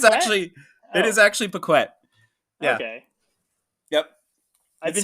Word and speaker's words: Pequette: friend, and listener, Pee-kwette. Hey guys, good to see you. Glad to be here. Yeah. Except, Jamie, my last name is pronounced Pequette.